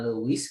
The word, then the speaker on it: Lewis: ngeceknya pakai karena sisa Lewis ya Lewis dibacanya Louis karena di Indonesia nggak